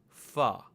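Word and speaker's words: फ़: the bottom left, and then you get the letter fa. Fa.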